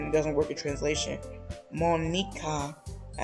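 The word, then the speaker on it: Monika: Monica, as we would say her name in English, actually it would be roughly the same as Japanese as well. Monica.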